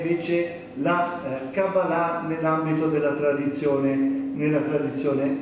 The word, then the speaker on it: cabalà: Beh innanzitutto perché Eh quando si dice Eh cabalà Molti dicono questo sbaglia l'accento Perché si dice sempre Cabala Ma la cabala che